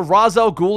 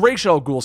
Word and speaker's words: Ra's al Ghul: It's very similar to the Ra's al Ghul and Ra's al Ghul situation.